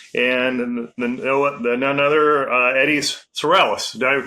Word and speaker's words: Sorrells: this busy schedule and the none other Eddie Sorales. Did I pronunciate that right?